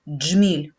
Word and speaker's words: джміль: Отже, вимовимо слово джміль. Перший звук, який ми чуємо, дж. Звук дж твердий, приголосний. Джміль.